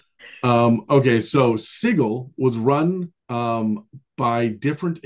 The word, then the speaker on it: Sigil: planer Crossroads sits a city named sigil or sorry sigle not sigil apparently they wanted it